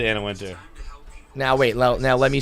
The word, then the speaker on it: Anna Wintour: It's just Anna Wintour, right? I know it's spelled that way, but I believe it's pronounced just Anna Wintour.